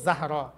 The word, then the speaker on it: যাহরা: তোরা উচ্চারণ করবো জাহরা, ফাতেমাতু জাহরাউ, ফাতেমাতু জাহরা।